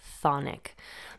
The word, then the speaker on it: chthonic: associated with the underworld cathic or konic can be a bit of a tongue twister and I've heard people drop that c or sound at the beginning and simply say thonic but the Greek root of this word is thos which means under in or beneath the soil now you could argue